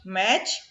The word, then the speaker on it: match: Match. T is silent.